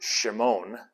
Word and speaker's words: Shimon: and so he says simon which in in the hebrew uh or the in the hebrew greek transliteration that they had it was probably pronounced shimon and it means the